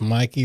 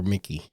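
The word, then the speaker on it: Mäki: And I don't know if it's Mikey or Mickey. It's spelled M-A-K-I, but everybody pronounces it Mikey.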